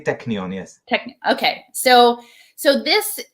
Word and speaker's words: Technion: cornell tech cornell technion technion is that how you say it technical technion but you can say technion yes okay so so